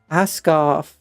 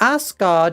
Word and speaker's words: Asgard: Asgarth. It's not Asgard. It's Asgarth right there. Asgard is like something completely different.